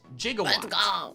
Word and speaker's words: Jigawatt: Thankfully it had intimidate and not rivalry and I named it Jigawatt. spelled like gigawatt but pronounced like how Doc Brown says it in Back to the Future.